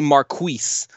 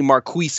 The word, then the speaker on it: Marquise: So it's actually Marquise. For anybody who's wondering, it's actually Marquise Gray. So we've actually been saying it wrong this whole time.